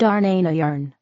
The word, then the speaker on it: Dharnahn: Place the frequency of the sacred sound, Dharnahn, pronounced Darnayarn.